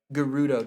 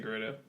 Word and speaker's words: Gerudo: Gerudo Desert. I think I say Gerudo. Okay. Gerudo? I know some people say Gerudo.